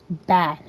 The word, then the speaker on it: BA: So, on the lines of joining, basically to join the the gang is called BA, you know, it's literally B A. It's pronounced bad.